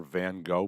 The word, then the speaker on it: Van Gogh: I mean, certainly, this multi-million-dollar Van Gogh painting. And yes, I should realize that it should be pronounced Van Gogh, as a Dutchman once corrected me. They get mad if you pronounce it Van Gogh.